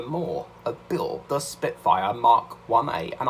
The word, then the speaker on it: Mk1A: spitfire mark 1a and i am going to pronounce it right this time because i kept calling it mark okay do you remember when i kept calling it mackler built the spitfire mackler i remember that but